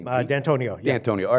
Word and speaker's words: D'Antoni: How do you pronounce that name? D'Antonio.